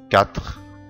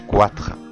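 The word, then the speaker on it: quatre: تمام، شوف المثال التاني، كاتخ كاتخ كاتخ، ما قلتش كواتخ غلط، لان حرف الاي لو سبقه حرف الكي في الحالة دي حرف الاي لا ينطق. كاتخ كلكا كلكا.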